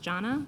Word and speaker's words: Jonna: I'm sorry it's pronounced Janna. Is that correct?